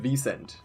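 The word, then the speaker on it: Wisent: In German we would pronounce it Wiesent.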